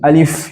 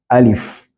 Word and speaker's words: alif: has to be had you say alif alif and not don't say Al if you say Al it's a thousand so you should have you should pronounce it as alif and then we go to